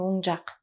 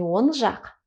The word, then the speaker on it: оң жақ: И здесь правильное должно быть произношение. Оң жағында. Вот такой, как звук в английском. Ну, вы на вашем уровне уже знаете про правильное правозвучание. Просто здесь вот принципиально правильно произнести оң жақ. Не он жақ, оң жақ.